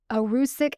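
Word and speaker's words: erucic: Those two compounds were arusic acid, that's spelled e r u cic, and glucosinylates.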